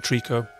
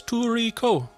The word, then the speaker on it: Trico: The Western pronunciation has been Trico, but during the game, the boy, when he calls to Trico, says Toriko, in a really cute way, and you can call